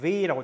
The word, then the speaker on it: weh: 자, 참고로 끝에는 weh라고 하는 표현은 에 모음이죠. 그다음에 하가 있죠. 모음 뒤에 하가 있으면 모음을 길게, 그렇죠? 왜 이렇게 길게 발음해도 돼요? 왜 말고 왜, 그렇죠? 니체는 마찬가지죠. 아 움라우트도 모음이죠. 모음 뒤에 하가 있으면 길게. 그래서 니체는 tun mir weh 이렇게 읽어주셔야 됩니다.